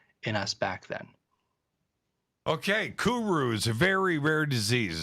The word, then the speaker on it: kuru: rare disease called kuru what's kuru am i saying you're right cool you're saying it right yes okay is a